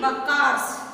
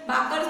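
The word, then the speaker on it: बखर: फिर उसके बाद हमने मराठी बकार्स, सॉरी मैंने लास्ट इसमें बाकर्स बाकर्स बट it's pronunciation is अ बकार्स बका बकर बकर्स बकर्स के बारे में देखा मराठी बकर्स.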